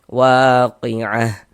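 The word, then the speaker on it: الواقعة: Kalau kita wakafkan, maka huruf ha yang kita baca waqiah.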